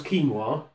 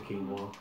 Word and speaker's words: quinoa: Plus, you sound like a dick when you ask for quinoa. Because you would, I would, and I imagine anyone else would always put the emphasis on the wah. I would like your finest quinoa.